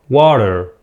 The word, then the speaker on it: water: accent water okay water في النطق البريطاني لا ينطقون الR water next gratitude ردد